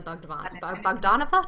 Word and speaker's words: Bogdanova: And Michelle will be taught by Miss Natalia Bogdanova.